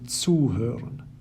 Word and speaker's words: zuhören: Separable verbs, on the other hand, have their stress on the separable prefix itself. Ankommen, aufstehen, and zuhören.